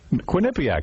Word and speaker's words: Quinnipiac: Quinnipiac, that's how you say it.